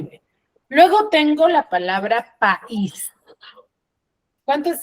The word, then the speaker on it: país: Luego tengo la palabra país. ¿Cuántas sílabas tiene país? 2. Tiene 2. País. ¿Qué sílaba tiene la mayor fuerza de voz? Is. Is.